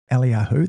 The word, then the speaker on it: Eliyahu: Now, that's Eliyahu. That's how you actually say his name.